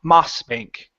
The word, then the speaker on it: Mossbank: the word mossbank so instead of mos this is an a sound ma mossbank Moss Bank good now